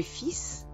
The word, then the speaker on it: fils: Fate attenzione alla pronuncia proprio del figlio. Le fils, les fils. Fa un po' eccezione, non pronuncio neanche la L, per non confonderla con la parola le fil, che significa il filo.